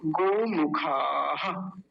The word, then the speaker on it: गोमुखाः: अंग्रेजी वाला जो गो होता है बिल्कुल वैसा ही, जी ओ गो, गोमुखाः, गोमुखाः।